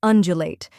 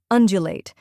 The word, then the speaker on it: undulate: the JW in Jump finally late which rhymes with bait now let's put it all together undulate try repeating after me undulate now a little faster undulate and at full speed